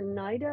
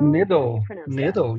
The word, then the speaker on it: NIDL: Your ML network detection company, NIDL or NIDO? NIDL, yeah. It was a pun on needle in the haystack.